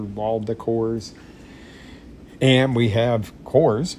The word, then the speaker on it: Kors: decors and we have Coors it rhymes with decors Michael Kors really nice